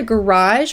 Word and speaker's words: garage: Something else that people often do in their driveway or their garage or also their yard is to have a garage sale. Notice the pronunciation of that word, garage. Garage. It's almost like a Z, garage sale or a yard sale.